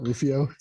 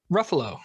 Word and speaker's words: Ruffalo: just keep saying that what i call mark ruffio what is it really ruffalo ruffalo like the way they